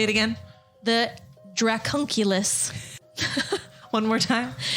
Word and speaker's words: dracunculus: that's kind of cool say it again the dracunculus one more time it's exactly how I'm saying